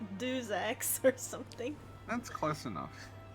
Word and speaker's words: Deus Ex: I say like Deus Ex or something. That's close enough. He's like, it's not do, it's not two in French, okay? And I'm like, Oh yeah, because you're from Charles. Deus Ex?